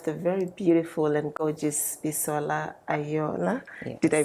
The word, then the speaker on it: Bisola Aiyeola: today we have the very beautiful and gorgeous pisola aola did I pronounce that right yes you did yes you